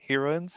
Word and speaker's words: heroine: s SNK hero heroines heroins heroin hero heroin it's pronounced the same as the drug smack perfect right what what